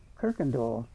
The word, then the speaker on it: Coykendall: And so this one here, after about the second generation, changed the original from K-I-R-K-E-N-D-A-L-L to C-O-Y, but they didn't change the pronunciation. So we still were supposed to say Coykendall.